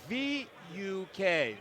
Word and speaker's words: Vuk: By the way, Vuk, his first name is spelled V-U-K, Vuk Lazarevic.